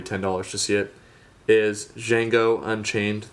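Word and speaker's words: Django: to see it is jeno Unchained the D is silent starring Jamie Fox and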